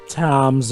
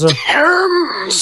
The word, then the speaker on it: Thames: I think I've heard of it, the Tom's Arms. Thames! Thames. God damn it, Jova! Hey, Americans, we pronounce it Thames.